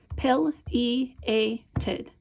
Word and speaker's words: pileated: So this first sound is going to be pill. Pileated, right? If you do the pounding, you can do pileated. P-il. How many sounds did we hear? P-il. We heard 3 sounds, so let's do 3 dots.